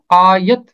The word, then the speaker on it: آیت: پہلا باب 16ویں آیت۔ اس کا تلفظ ہے آیت، الف مد آ، یہ زبر تے یت، آیت۔ آیت کا مطلب ہوتا ہے نشانی، اور اسے پڑھنا ایت پڑھنا، آیت پڑھنا یہ غلط ہوگا۔ پہلا باب 16ویں آیت۔